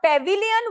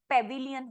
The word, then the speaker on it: pavilion: दूसरा पॉइंट लिखो, द पेविलियन were lightly arc. पेविलियन, पेविलियन क्या होता है? पेविलियन क्या होता है यार? क्रिकेट में पेविलियन लिखा है, ऐसी तरीके से उसको प्रॉपर प्रोनाउंसिएशन पेविलियन होता है।